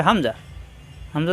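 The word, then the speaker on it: همزة: আগা নিচের ঠোঁটের পেট হামজার মাখরাজ কণ্ঠনালীর শুরুতে মুখ খোলা থাকবে হামজাহ হামজাহ শক্ত করে উচ্চারণ করতে হয় এখানে যখন হরকত আসছে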